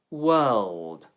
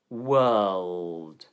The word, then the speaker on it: world: Hi, this is Luke from Improve Your Accent, and today's word is world. World. The lips round for the W sound, then spread outwards for the vowel. World. Make sure you pronounce the L.